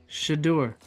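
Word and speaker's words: Shedeur: Sanders is it Shad or is it shadur shadur it's shadur Sanders shadur well shadur sh somebody give us the correct pronunciation of this man's name now cuz now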